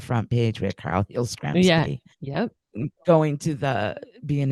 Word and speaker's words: Yastrzemski: His favorite player was Carl Yastrzemski. I hope I said that right. I never could get Yep.